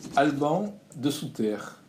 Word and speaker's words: Alban Desoutter: Bonjour, aujourd'hui nous recevons Alban de Souterre. Est-ce que j'ai bien prononcé? Exactement, c'est bien ça.